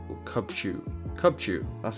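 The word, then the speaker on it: Cubchoo: Cubachu or Cubchu. Cubchu, that's how you say it.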